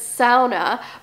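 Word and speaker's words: sauna: Finnish word in the English dictionary and you pronounce it SAA but we went to the one at Horseshoe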